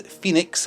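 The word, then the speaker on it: Fenix: This is Phoenix, although it's spelled F-E-N-I-X.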